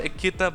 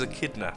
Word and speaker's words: echidna: I echidna is it is it pronounced echidna I want to say a kidder but don't think it is after you know only googly how do you pronounce this okay so Google agrees with me it is a kid nuh that's the seeds one